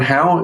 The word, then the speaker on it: Hau: my name is how is in Steve irn so I are w n how is in how do you do but pronounced that way